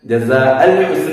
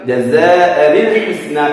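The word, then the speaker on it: جَزَاءً الْحُسْنَى: എങ്ങനെയാണ് ഓതുക? ജസാഅനിൽ ഹുസ്ന, ജസാഅൽ ഹുസ്ന എന്നൊക്കെ പല ആളുകളും അങ്ങനെ ഓതാറുണ്ട്, തെറ്റാണ്. ജസാഅനിൽ ഹുസ്ന എന്ന് ഓതണം.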